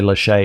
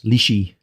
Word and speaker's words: liche: I realize that when I say liche, I'm pronouncing them completely wrong. It's lishy.